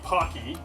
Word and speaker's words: Paqui: the one chip challenge the pocky because i'm pronouncing it right one chip challenge so